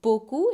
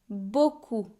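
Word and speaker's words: beaucoup: It is o b mercy bo and the p is silent just like a lot of uh consonants in French when they are the last letter of a word mercy buu.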